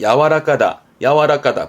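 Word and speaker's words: 柔らか: 발음은 야와라까다.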